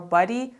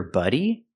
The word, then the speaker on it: body: cover your buddy ah she means body it's a different sound so buddy has the short uh sound like cup and up it's closed and relaxed BB buddy my friend is my buddy and this is the word body it has the open Sound a like hot and stop body my body